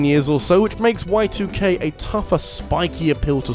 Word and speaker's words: YIIK: I'm trusting that's how you pronounce it, you know, I have called it YIIK in the past and people told me it was wrong, so whatever, I'll call it Y2K this time.